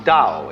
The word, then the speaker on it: Tao: of of organic growth they call Dao that's pronounced Dao if it had an apostrophe after it it